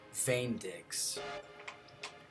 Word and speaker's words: VÉNDX: That E with the acute accent over it, I believe, is pronounced with the A sound, which means that their alliance tag is pronounced most likely VÉNDX, which is totally cool.